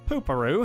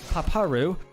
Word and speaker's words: Paparu: Well, basically you're following Pooparoo here, or Paparu, if you want to say it properly and not be an idiot like I am.